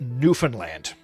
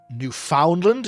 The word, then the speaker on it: Newfoundland: It's pronounced Newfanland as if as in like New Finland. You Newf Foundland is what like like